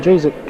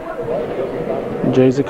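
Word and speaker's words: Jazyk: Kathy Jazik shooting. J-Z-Y-K is how you spell it, and you pronounce it Jazik.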